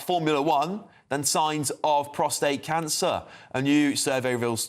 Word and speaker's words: prostate: Even the politicians pronounce it wrong. They call it prostrate rather than prostate.